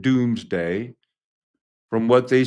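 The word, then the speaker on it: Domesday: It's pronounced doomsday from what they say is that year.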